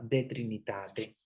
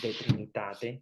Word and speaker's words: De Trinitate: en latín, se llama De Trinitate. Bueno, al final le ponen AE porque es, pero en realidad se pronuncia como una E, de Trinitate, pero se escribe de Trinitatae, Tatae, al final.